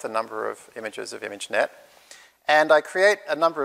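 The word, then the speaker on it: Imagenette: So the first data set is called ImageNet, which is very French, as you can hear.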